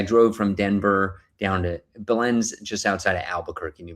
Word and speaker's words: Belen: And I'm like, come see me in Belen, New Mexico. Belen, New Mexico, come out, but it's Belen. So I said the name wrong like 6 times in this promotional video.